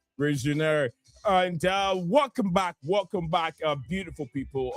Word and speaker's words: Rosenior: I was told the right pronunciation is not Rosenior. It's Liam Rosenior.